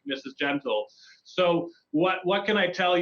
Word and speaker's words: Gentle: All right, and on the lines we have Miss Gentile. Am I pronouncing your name correctly? It's Mrs. Gentle. Mrs. Just like Gentle. the word.